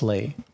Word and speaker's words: Lea: So when he submitted this image, he finally told me that it's pronounced Ley.